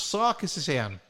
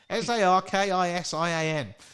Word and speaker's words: Sarkisian: It's Sarkisian. Sarkisian. Her first name's Sherilyn, so it's not just share. She's got lots of syllables and everything.